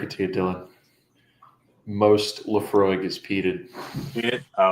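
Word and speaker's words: Laphroaig: y'all don't I mean y'all can laugh but Leafroy Lamb Lambfrog. Sorry. And you you did you did pronounce it absolutely correctly. Oh okay. Leafroy.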